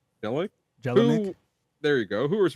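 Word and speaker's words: Jelenic: And Michael Jel Jelik Jelick.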